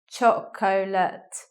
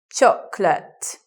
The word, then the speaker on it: chocolate: in the word so you may anticipate chocolate but we don't say that were to sit with two syllables chocolate like that was the stress at